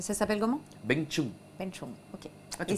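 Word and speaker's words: bánh chưng: Beng Chung, ok. Ah, tu prononces bien.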